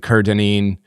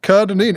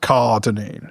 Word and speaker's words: Kerr-Dineen: Kerr-Dineen. If you asked my dad, it's the Kerr that's the issue. He likes to pronounce it Kerr-Dineen, even though it's not pronounced that way.